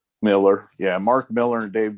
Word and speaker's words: Millar: Superman Red Sun, Mark, is it Miller or Millar? How do you say it? Miller.